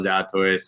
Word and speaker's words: Zalatoris: Zalatoris, Yeah, in 31st right now.